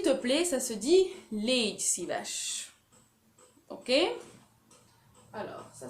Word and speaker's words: légy szíves: S'il te plaît, ça se dit légy szíves. Ok? Alors, ça s'écrit.